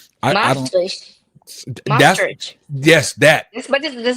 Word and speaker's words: Maastricht: We did Oh, there was this place I still can't freaking pronounce it. Matridge. I don't. I'm horrible. Mannheim, It's not. It's like it's. I want to say it's like München, Mastrid. I don't. Maastricht, That's Maastricht.